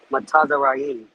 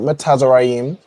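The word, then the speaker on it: מצרים: Matazarayim. Not Metazarayim, but close. You have the the foundation of how you pronounce it.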